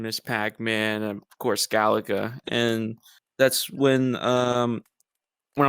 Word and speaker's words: Galaga: and dear to my heart you brought up Galaga not me not not galatian or Galaxy and however a lot of people